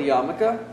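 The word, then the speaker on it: yarmulke: so this is called uh this is called yamaka um pronounced or spelled yarramoka but pronounced yamaka it is uh just a piece of cloth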